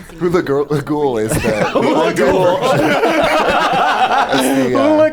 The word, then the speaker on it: Hulaghoul: You have your exploration, you have your puzzle solving, and you have Hula Girl Stella. That would have been funnier if I could say her name right. Hula Ghoul is the...